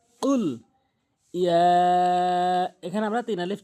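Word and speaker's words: قل: রাহমানির রাহিম কুল কুল কখনোই কুল বলবো না সঠিক উচ্চারণ হচ্ছে কুল ইয়া এখানে আমরা তিন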